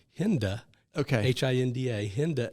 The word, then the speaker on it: Hinda: I need to make sure I have correctly pronounced hinda okay h-i-n-d-a hinda L honigman who was the president of